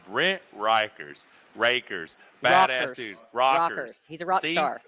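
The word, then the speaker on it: Rekers: Rikers rakers badass dudes rockers is how I should pronounce it but it's spelled r-e-k-e-r-s this dude's awesome Triple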